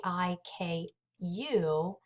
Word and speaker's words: haiku: It's spelled Haiku, but it's actually pronounced haiku.